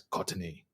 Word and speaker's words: Courtney: That's Courtney is the right way to pronounce that bad boy.